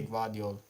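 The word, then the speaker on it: Gvardiol: I say Gvadio. Gvadio, yeah.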